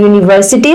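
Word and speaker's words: university: the consonant sound and यूनिवर्सिटी starts with the you sound which is a consonant sound तो यहां पे चाहे य यू से स्टार्ट होता है जो कि एक वाउल है लेकिन जब हम इसको प्रोनाउंस करते हैं तो इसकी जो साउंड है वो यू से स्टार्ट होती है उ से नहीं होती जो कि एक कंसोनेंट साउंड है इसलिए यहां पे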